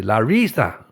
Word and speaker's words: Larissa: Google Translate pronounces the I in Larissa quite strongly. Larissa.